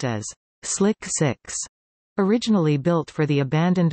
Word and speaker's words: SLC-6: Space Launch Complex 6, SLC 6, pronounced as Slick 6, originally built for the abandoned Manned Orbital Laboratory project, was extensively modified for shuttle operations.